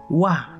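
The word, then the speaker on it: は: kenarinya saya pergi saya wah no partikel Wego Wego artinya adalah Nah ini kan profira karenanya akan ditulisnya ha ya blok H tapi dibacanya wah kenapa karena partikel micro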